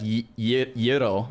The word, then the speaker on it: gyro: Google says it's pronounced more like yuro.